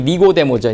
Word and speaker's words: 니고데모: 발음이 니고데모죠.